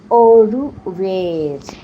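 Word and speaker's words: au revoir: বারে বাবা, যা প্রোনাউন্সিয়েশন গো। ওরু ওয়ের, ওয়ের।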